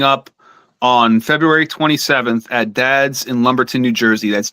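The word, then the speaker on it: Dadz: playing a place called Dads. Next Friday. So it's spelled it's like uh like a father, like somebody's father, but it's D A D Z.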